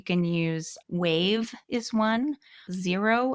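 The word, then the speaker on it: Xero: So you can use wave is one, zero is one, and I think it's spelled X E R O where they're a little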